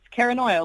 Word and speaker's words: Kara Noia: I'm like, oh, it's Paranoia, like paranoia, but it's me.